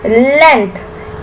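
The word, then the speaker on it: length: ठीक है measuring लेंथ एल ई एन जी टी एच लेंथ इसमें जी साइलेंट है जी की आवाज नहीं निकल रही लेंथ वी मेजर लेंथ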